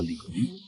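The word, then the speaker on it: 李: The first one is "木下有子" (Mu Xia You Zi) , pronounced Li.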